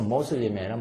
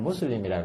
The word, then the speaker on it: 무슬림: 꿀 안을 공부하러 갑니다 영어에는 여러분 꼬라니라고 발음하지만 중동 지역에서는 아랍어는 모음이 발달 안에서 우발음이 거의 오 발음이 우처럼납니다 그래서 모슬림에는 무슬림이라 그러고 꼬라냐 아니라 꼬라니라고 하는데 불안을 배우러 간다는 거예요